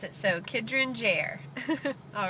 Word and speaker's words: Kidron Jair: Okay, baby's name is pronounced Kidron Jair. That's how you pronounce it. So, Kidron Jair.